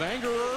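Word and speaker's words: Angerer: get the first down it's a-n-g-e-r-e-r pronounced anger and you know we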